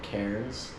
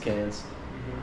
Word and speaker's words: Cairns: American that is called cares um but yeah it's actually pronounced cans we've been here for